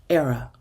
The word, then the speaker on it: Airea: that ghost I honor say it with me era rhymes with Sarah Sarah from the Latin meaning a